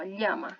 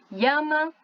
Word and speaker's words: llama: Eu posso falar llama, posso falar llama, posso falar chama, ou posso falar llama, né? Vai depender aí do que eu preferir, do que eu achar mais legal, do que eu gostar mais, tá bom?